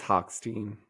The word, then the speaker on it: Hochstein: How are we pronouncing this? Am I saying it incorrectly? I think it's Hochstein.